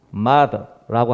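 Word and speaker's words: martyr: 이 발음이 참 어려워요. 이게 마더라고 하는데 이게 순교자죠. 순교자. 마더.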